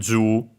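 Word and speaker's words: じゅう: For example, for the number 10, Ju, which is Ju and then U technically, when written in hiragana, yeah, a long vowel. Yeah, the accent is on the Ju itself, so high, low technically.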